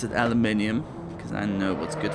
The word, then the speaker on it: aluminium: Actually, I pronounce it aluminium because that's what it is in German. It's also how the word is written in the scientific sense.